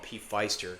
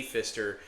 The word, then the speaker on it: Pfister: I used to call him P. Feister because I thought that's how you pronounced it, but it was Wally P. Pfister for like I think